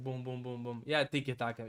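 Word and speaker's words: tiki-taka: Tik Taka. You can also say it like it's tikk taka thing is football fans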